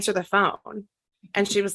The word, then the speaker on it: pho: If you pronounce it incorrectly, it's 90210 pho, but if you pronounce it right, it's 90210 pho, which delighted me to no end.